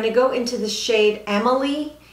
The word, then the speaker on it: Amelie: Now I'm going to take this Sonia G Worker Pro and I'm going to go into the shade Amelie. It's not spelled like Emily, it's Amelie.